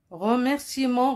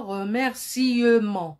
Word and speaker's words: remerciements: le lan remerciements regarder il y a eu une lettre muette eux c'est une lettre muette qui se trouve en milieu et on ne dit pas remercier mans non ça c'est faux on dit remerciements ça y est vous